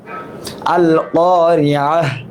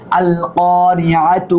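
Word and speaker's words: القارعة: আল ক্বারিআহ, আল ক্বারিআহ, মাল ক্বারিআহ, থেমে গেলে এইভাবে হার উচ্চারণ হয়ে যাবে। ওয়া মা আদরাকা মাল ক্বারিআহ, মিলায় পড়লে তার উচ্চারণ করতে হবে আল ক্বারিআতু মাল ক্বারিআতু ওয়া মা আদরাকা মাল ক্বারিআহ।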